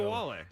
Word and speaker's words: Ogunbowale: But you have to pronounce her name in order to go. Ogunbowale. There you go. You're good at it.